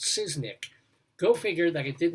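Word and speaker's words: Szysznyk: Back in the day, they took a chance in 1977 on a TV comedy, SZYK, which I assume is pronounced Siznik.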